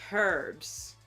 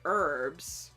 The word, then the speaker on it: herbs: They'll also say herbs, which is how it's spelled in America. We say herbs because the H is silent.